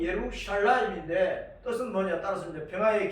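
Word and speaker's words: ירושלים: 예루살렘은 예루샬라임, 본 발음이 예루샬라임인데 뜻은 뭐냐?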